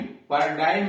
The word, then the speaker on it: paradigm: जैसे पैरा डेग्म, पर डाइम, पर डाइम में जी गायब है, पर डाइम, PARADIGM, पर डाइम मतलब मिसाल।